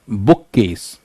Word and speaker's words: bookcase: तो each element retains its original pronunciation and the first element has a slightly heavier stress like bookcase.